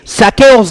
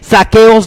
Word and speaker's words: Zaqueos: vamos a hablar de saqueos de hoy pero cuando lo más destacado de hoy asegurémonos que le pronunciamos con z como también asegurémonos que